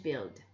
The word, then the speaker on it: build: Comme I am of average build, le U s'écrit mais il ne se prononce pas. I am of average build.